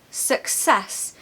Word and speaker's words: success: can do that and the second syllable is sess success you need to put